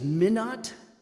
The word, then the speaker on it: Minot: later if you wish his name is Minot or Mino but I'm going to use the one pronunciation Minot Judson Savage minute Judson